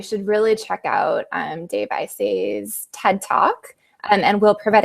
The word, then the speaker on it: Isay: Yeah, and since we recorded that podcast, StoryCorps made a big announcement that their founder, Dave Isay, had used his $1 million TED Prize to